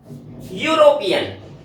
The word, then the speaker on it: European: यूरोपियन, यूरोपियन य, यानी ये की आवाज से शुरू हो रहा है।